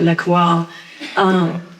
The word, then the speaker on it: LaCroix: So the unsweetened, sparkling, like LaCroix, my friend says, you Southern, you say it right, LaCroix.